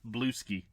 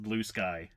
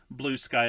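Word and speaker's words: Bluesky: Everyone's going to what I originally thought was called Blueski, but I think it's pronounced Blue Sky.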